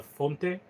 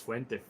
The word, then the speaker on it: Fuente: from El Septimo and he keep referring Fuente as a Fonte which doesn't make any sense. I don't know if he on purpose called him Fonte. It's not Fuente just called him Fonte which I don't know it's it's not that hard to pronounce it. Fuente is Fuente not Font and and with the